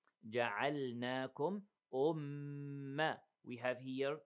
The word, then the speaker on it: جَعَلْنَاكُمْ: Don't merge the lam with the noon. Don't say جَعَلْنَاكُمْ. Okay. Separate them. جَعَلْنَاكُمْ أُمَّةً.